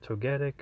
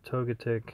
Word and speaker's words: Togetic: Now I do have either Togetic or Togetic, however people want to pronounce it.